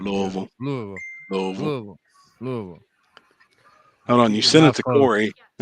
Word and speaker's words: Louisville: You gotta say Louisville with the tips of your tips touching. Louisville.